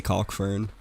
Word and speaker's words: Calkfern: can people pronounce a calque fern I say caulk fern I'm not too picky on that fern calc I've